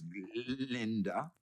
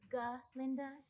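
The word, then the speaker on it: Galinda: Some of us still tend to favor form over content, Miss Glenda. Actually, it's G. Linda with a G with a G.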